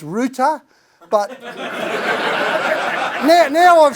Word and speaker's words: Roothy: because Ruth is a Viking name, it's actually pronounced Roothy, but now I've said that, you're all going to forget it, all right?